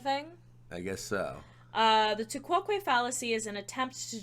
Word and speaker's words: tu quoque: We are looking at how to pronounce tu quoque.